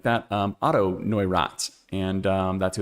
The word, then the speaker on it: Neurath: Last week I said Neurath, and I said I'm going to learn how to say this. I learned it's Neurath mono, and it's actually named